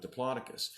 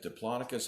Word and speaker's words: Diplodocus: story today the Diplodocus make sure you pronounce it Diplodocus and not Diplodocus my giant friend Diplodocus